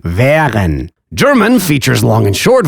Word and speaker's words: wären: And A umlaut? Well, that's just open wären, wären.